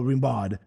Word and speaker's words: Rimbaud: between Villain Verlaine and Rambo Rimbaud. Arthur Rimbaud, pronounced Rambo, being another French poet with whom Verlaine had a tempestuous affair.